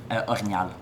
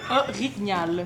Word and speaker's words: orignal: Orignal. Okay. Yeah. Orignal.